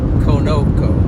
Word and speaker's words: Conoco: The Japanese pronunciation would be Konoko, because that's how they pronounce their O. O is always O.